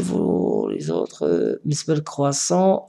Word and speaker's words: croissant: Monsieur le croissant, la lettre est muette. Croissant. Croissant, T ne se prononce pas.